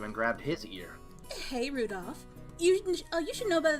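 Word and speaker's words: Rudolf: on it's just anyway this guy's name is pronounced Rudolph he must hate grandfather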